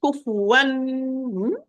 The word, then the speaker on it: كفوا: So I'm going to apply izhar or clear noon or clear tanween to the tanween. Kufuwan.